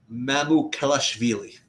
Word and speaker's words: Mamukelashvili: not knowing who's playing, is of course Sandro Mamukelashvili.